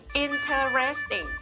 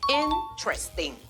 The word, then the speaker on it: interesting: ที่ 3 นี้ ค่ะ นัก เรียน หลาย ๆ คน ออก เสียง ว่า Enter resting interest ting สี พยางค์ ใช่ ไหม คะ แต่ ผิด ค่ะ คำ นี้ นะ คะ ออก เสียง เพียง แค่ 3 พยางค์ ค่ะ ออก เสียง ว่า intestine